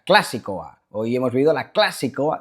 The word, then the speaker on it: Klasikoa: Yepa, chavales, ayer algunos suscriptores vascos me decíais en los comentarios que no se pronuncia clasicoa, que es es drúcula la palabra, o sea, clasicoa.